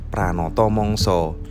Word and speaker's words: pranata mangsa: misalnya Pranoto mongso Nah itu masih Pranata mangsa yang dibacanya Pranoto mongso karena ada beberapa kontainer